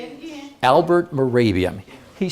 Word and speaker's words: Mehrabian: His name is spelled Mahrabian. You've heard of him. Okay. Say it again. Albert Mehrabian.